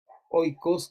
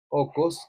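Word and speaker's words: οίκος: a hablar de ellos, de los oikos, como les he dicho, o ocos, como se pronuncia ahora en griego, eran los que contrataban esclavos.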